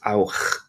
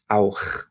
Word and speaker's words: auch: or to, T-O-O, and it's pronounced auch, auch, auch. So here we're making a sound. The first one, the hissing cat, the second one, so after AOU, the clearing your throat, what might be called the stereotypical German sound.